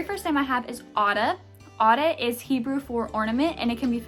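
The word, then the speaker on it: Adah: their name and people would mistake it for ada but it's actually pronounced otta it's adh this name is currently not ranked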